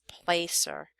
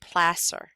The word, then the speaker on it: placer: you might think it's Placer um but it's actually pler uh that's how you pronounce it this is pler mining so pronounced like it's an SS instead of a c r and this uses